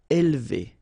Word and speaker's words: élever: All right, so don't pronounce this E here. Élever, élever.